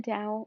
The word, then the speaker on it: Dao: reaching perfect harmony with the dao or tao either pronunciation works for them actually um the taoists